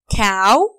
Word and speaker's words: cow: cow dog dolphin. Repeat after me, please. Huh? Cat, cow. We say it like this. Cow, ow. Because O and W together, we say it ow.